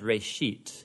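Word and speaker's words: בראשית: of it's called Genesis Genesis comes from a Hebrew word it's pronounced rate sheet and it just means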